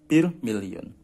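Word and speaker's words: bir milyon: Jadi 1 itu bir, juta itu million. Bacanya bir million.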